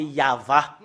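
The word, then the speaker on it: יהוה: en gras cette image, le fait de prononcer le tétragramme Yod, He, Vav, He, c'est ça qu'on le prononce, c'est Yahva.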